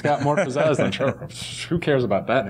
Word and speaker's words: Trevorrow: Pronouncing that right? Trevorrow. See, I always like last names to be right, so I'm very picky about that. Trevorrow.